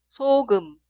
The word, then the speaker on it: 소금: La primera sílaba suena 소, 소, 소. Y la segunda sílaba 금, 금, 금. Y la palabra entera, 소금, 소금, 소금, 소금, sal.